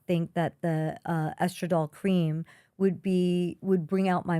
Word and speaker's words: estradiol: So she did prescribe for me a vaginal cream, the estradiol.